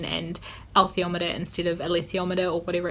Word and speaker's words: alethiometer: I say althiometer, but it doesn't look like it's pronounced that way.